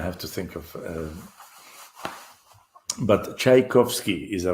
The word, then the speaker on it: Tchaikovsky: pronounce his name Tchaikovsky Tchaikovsky I don't know to us who speak Russian we don't even never think of of this name being difficult to pronounce Russian the tea in Russia is chai so so in American Union